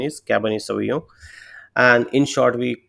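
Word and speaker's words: Cabernet Sauvignon: in Black category is caban soo so the pronunciation is caban soo and in short we call it cabv also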